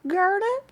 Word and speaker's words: Gurnip: You see Gurnip rhymes with turnip.